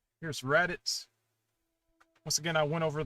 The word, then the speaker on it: Raditz: Here's Raditz.